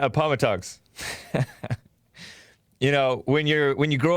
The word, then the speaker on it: Appomattox: At Appomattox. I used to call it Appomattox. But there's some listeners who live in Appomattox, I think is what it's pronounced. And it's not Appomattox.